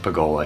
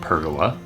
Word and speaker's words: pergola: multi-level deck and pagola yes it's pronounced pagola here in Oz not pergola due to how the